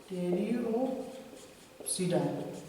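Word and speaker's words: Pteropsida: अब जैसे हम बोलेंगे, इसमें पी साइलेंट है, ठीक है ना, इसमें स्फिनोप्सिडा और इसमें भी पी साइलेंट है, ठीक।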